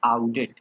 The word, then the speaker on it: Oudet: तो ये नाम जो है वो किसने दिया था, आउडेट, स्पेलिंग OUDET, याद रहेगा, आउडेट वैज्ञानिक का नाम है, आउडेट ने दिया था, आउडेट ने दिया था।